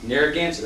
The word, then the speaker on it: Narragansett: Can you pronounce it? Nope. Narragansett. No, Narragansett. Narragansett.